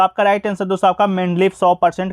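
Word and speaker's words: Менделеев: ठीक है, तो आधुनिक आवर्त सारणी का जनक दोस्तों आपको सबसे पहले बता दें कि रूसी रसायन शास्त्री मेंडलेव, ठीक है, सही उच्चारण आपका मेंडलेव है, कि सन 1869 में आवर्त सारणी का एक नियम प्रस्तुत किया था।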